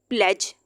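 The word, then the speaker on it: pledge: प्लेज। अब ये प्लेज क्यों आ रहा है, डी क्यों नहीं आ रहा है? क्योंकि डी के बाद जी लिखा हुआ है तो डी साइलेंट हो जाएगा।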